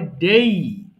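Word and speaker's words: day: দেখো প্রথমত আমরা যে ডে বলি সেটা কিন্তু ডে নয়। সেটা বলতে হয় ডেই আবার ঢেই না কিন্তু কেউ বলো না ঢে এটা হবে ডেই হবে সিম্পল ডেই তাহলে দেখ আমি একটু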